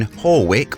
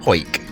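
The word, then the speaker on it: Hawick: When we said we're in Horwick, or whatever we pronounced it as, it's actually pronounced Hoik.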